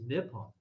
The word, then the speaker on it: Nippon: How do you say Japan like in Japanese? I think it's Nippon.